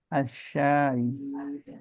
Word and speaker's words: الشاي: Oke, dibacanya asyai. A'malu asyai ya ummi. Baik, kalau disambung, jadi disambung aja nggak apa-apa. Yang penting sinnya ada matnya ya.